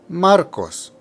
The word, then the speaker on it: Marcos: next we have maros the emphasis here is on the first syllable Marcos Marcos third we have